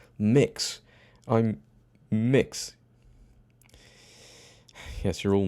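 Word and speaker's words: Mx: call me mix and it's m x dot and you pronounce it as mix this is not the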